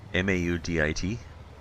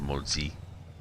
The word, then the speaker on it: Maudit: M-A-U-D-I-T. Well, actually it's pronounced Maudit or Maudit.